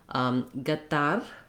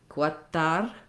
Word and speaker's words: Qatar: Some do it more like a g sound, some more like a qu sound, like the letter Q. And in this particular word, I heard gatar, I heard quatar, gatar, and guatar.